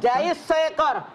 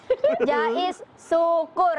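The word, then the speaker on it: Jais Soekoer: Jais seekor. Baju Syukur, syukur. Oh, Jais Soekor. Kata bisa ejaan lama. Maaf, Soekoer jadi. Syukur itu. Balik deh, balik deh. Jangan norak. Maaf ya. Ya. Jais syukur.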